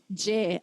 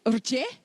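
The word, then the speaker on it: རྗེ: J, absolutely. This is the syllable J. It's got a rango, ra head letter on top, but we don't say rje.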